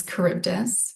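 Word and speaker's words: Charybdis: Um, it is Kurbdus. It's one thing to pronounce, it's another thing to spell it correctly.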